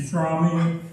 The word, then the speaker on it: Fromme: I'm Fromme. That's F-R-O-M-M-E, with the E pronounced at the end.